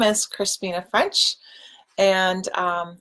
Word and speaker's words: Crispina: So my name is Crispina. It's spelled C-R-I-S-P like in Peter, I-N-A. And when people mishear it when I'm being introduced, I often tell them it sounds like a breakfast cereal.